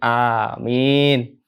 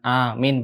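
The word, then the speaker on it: آمين: Alif sama mimnya itu harus panjang. Kok mimnya sih? Mim apa bro namanya bro? Kalau misalkan bacanya mi. Domah U. Fathah A. Kalau I berarti kasroh. Kok kasroh? Heeh. Mim kasroh mi. Oh nah, berarti mim kasrohnya harus panjang. Gitu ya. Jadi amin. Jangan amin beda arti.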